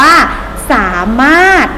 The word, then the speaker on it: สามารถ: สามารถ เห็น ไหม คะ เขียน สา มา รถ มี รถ เรือ อยู่ ตรง นี้ อยู่ หน้า พยัญชนะ ท้าย แต่ ไม่ ต้อง ออก เสียง ร เรือ ตัว นี้ นะ คะ ผลิต ใบ แบบ นี้ เวลา อ่าน ให้ เหมือน ไม่ มี ร เรือ เลย นะ คะ อ่าน ว่า